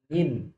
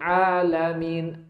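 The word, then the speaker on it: العالمين: Kalau sampai ain ini boncor gitu kan, tertukar dengan atau bercampur dengan hamzah sehingga antum terucap Rabbil alamin, alamin, karena enggak fasih. Pengucapan ain itu artinya sudah berubah. Alamin artinya semesta alam, alamin pakai hamzah itu jadinya malah orang-orang yang sakit. Jadi kalau alhamdulillahi rabbil alamin, tuh, itu pakai hamzah loh, bukan pakai ain loh.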